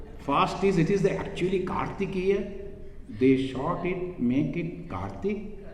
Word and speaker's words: Kartikeya: of Shiva this is kartikeya the in the eastern part and the western part is take Kartikeya and in Bengali pronunciation Kartik the last part we don't pronounce as maximum possible make it short so Kartikeya wider -